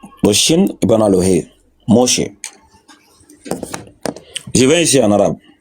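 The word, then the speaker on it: משה: Ici, on a une lettre ici qui ne se prononce pas. Ici aussi, on a une lettre aussi qui ne se prononce pas. La dernière lettre là que tu vois ici là. La lettre, on n'a pas dit Moussa. C'est Moussa. Voilà, on dit Moshe.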